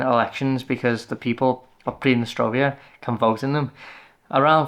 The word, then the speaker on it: Pridnestrovie: I've been saying it wrong, by the way. I think it's Pridnestrovia, even though it's spelled Pridnestrovie. I think with the Russian pronunciation, it's ear at the end.